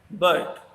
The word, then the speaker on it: bird: इनके बीच में एक आर साउंड आर वर्ड आएगा, पर आर वर्ड प्रोनाउंस नहीं होता इंग्लिश में तब तक जब तक उसके आगे कोई वाउल साउंड नहीं आए। जैसे कि एग्जांपल देखें हम, बर्ड।